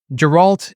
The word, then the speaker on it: Geralt: you care about the portrayal of, and you pronounced it correctly, I'm pretty sure, Gerald, is it? Geralt? Yeah. Geralt, and how we need to tell his story